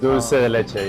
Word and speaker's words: dulce de leche: Is that how you pronounce it? Dulce de leche, yes.